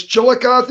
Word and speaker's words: Chillicothe: Yeah, it's Chillicothe, Ohio. It is kind of hard. Chillicothe. Yeah, Chillicothe.